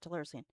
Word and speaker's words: Telluricene: Am I pronouncing it right? Yes. No, that is how you pronounce it. Telluricene.